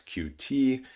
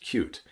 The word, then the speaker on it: Qt: we have cute um many of you know it as QT it is correctly pronounced cute and this is a